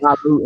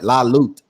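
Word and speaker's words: La Lutte: La Loot Empire, La Loot Empire, right? Yeah, the E is silent. It's French. Yeah, It stands for the struggle in French.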